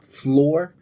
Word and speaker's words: Flore: fantasy M lore and always floor is spelled f-l-o-r-e that's lore with an F in the beginning if you want to